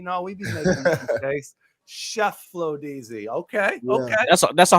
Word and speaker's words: Cheflodeezy: How is it pronounced? Oh, Cheflodeezy. I knew it was a chef. I was gonna work to it. I was gonna work my way to it. It's Cheflodeezy.